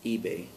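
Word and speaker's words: Ibe: Last name is I-B-E, and that's pronounced eBay.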